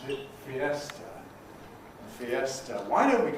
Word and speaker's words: fiesta: When we borrow this word into English, how many syllables does it have? 3. Fiesta. We pronounce it fiesta.